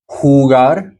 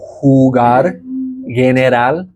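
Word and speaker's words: jugar: is that e sound hugar so J we haven't gotten to the down to the J but J makes the H sound in Spanish so hugar um you'll find that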